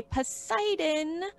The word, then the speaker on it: Poseidon: theme running through it i'd say poseidon like poseidon adventure that cheesy 70s movie but you might say